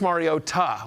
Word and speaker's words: Mariota: Marcus Mario Ta. We were told that it's important to put the the uh pronunciation on the T.